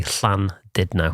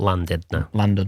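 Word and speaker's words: Llandudno: a local well well if you were a Welshman and you'd say Clan did no okay okay not land did no l Clan can you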